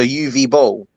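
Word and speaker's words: Uwe Boll: Um, the W in UI is pronounced like a V. It's the German. So, UV bowl, UV, like UV light.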